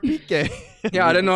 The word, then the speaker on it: Piqué: Hey, man, I packed this guy named Pick. His cards are blue. And then Matt's like, you idiot. That's Gerard Piqué.